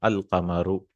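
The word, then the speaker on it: القمر: And in Qamar, we'll pronounce the lam, al-qamaru.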